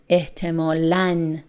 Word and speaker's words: احتمالاً: Again, here you can see tanween above the letter aleph, so the pronunciation is an. احتمالاً.